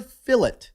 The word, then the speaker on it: fillet: The English, the way they say it's the proper way, except for fillet. Fillet of beef. Because it's a French word.